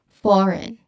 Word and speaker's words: foreign: pronounce it, but um there should be a silent G here. So maybe they say it as foreign for some reason but everyone this should be pronounced as foreign.